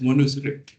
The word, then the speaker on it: Manu: So you should not pronounce this as manuscript but as monus right manuscript.